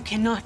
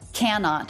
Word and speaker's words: cannot: You cannot tell anyone. So she doesn't say cannot, she says cannot. So we have K, schwa, and unstressed, said more quickly.